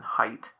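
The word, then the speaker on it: Haidt: You may know of a professor called Jonathan Height and that's spelled H AI DT.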